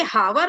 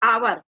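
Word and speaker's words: hour: तो आवर यहाँ पे हावर नहीं बोलते, आवर है ना, घंटा, 1 घंटा।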